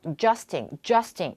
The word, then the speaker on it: adjust: 이 adjust라는 단어가 중요한 거는 강세가 두 번째 음절에 있기 때문에 첫 번째 AD 발음이 잘 안 들려서 adjusting 이렇게 들려요.